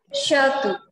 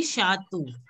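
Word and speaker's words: château: So it will be Shatu. Okay? Shatu. Now can you pronounce it again, Bhuvneshwari? Shatu. Shatu. Shatu. Yeah, this should be like pronounced as the letter O, not U.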